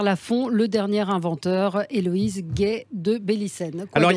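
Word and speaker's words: Guay: Gay, ça s'écrit G-U-A-Y de Bélicène, B-E-2-L-I.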